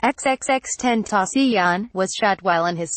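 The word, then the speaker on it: XXXTentacion: Monday afternoon the rapper whose stage name is pronounced xxx 10th asean was chat while in his sports car Williams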